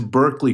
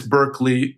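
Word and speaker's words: Berklee: they name it Berkeley the guy's name was Lee Burke so it's spelled b e r kle e e okay so basically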